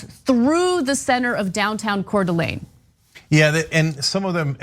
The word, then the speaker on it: Coeur d'Alene: Yes, and I want to get to that document right now, actually, and it's Coeur d'Alene. So I know how to pronounce it, I just got a little shaky about it.